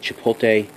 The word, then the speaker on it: chipotle: penis phoenix looks massive said chipotle that's how you say it coffee stout six point